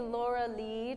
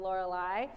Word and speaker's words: Lorelei: So I believe it will be Laura Lee to rhyme with the word sea. I hear a couple of you wanting to do what I do as well, make it out of Lorelei.